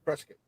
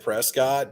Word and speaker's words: Prescott: No, Ruger's based out of Prescott. Yeah. So. I think how do I know this? I'm from Arizona. I know. Yes. I pronounce it Prescott, but all you Arizonians call it Prescott.